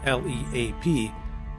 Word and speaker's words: Leap: Spelled Leap, L-E-A-P, but pronounced Leap, this fortified house was constructed during the Middle Ages, between 1250 and 1300.